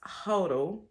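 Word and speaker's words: HODL: wrote I am hotling hoddle usually pronounced hoto simply means to buy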